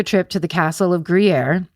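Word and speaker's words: Gruyères: A month later in March of 1995, they take a trip to the castle of Griier. In parentheses in red, Jay put pronounce like the cheese.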